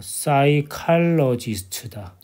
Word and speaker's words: psychologist: P가 왜 사이클이지? 사이도 PSY. PSU. 사이. 사이. P가 발음이 안 되지. 사이 칼. 이것도 CH가 초 발음 알고 있잖아. 키읔 발음이야. 사이칼로지스트.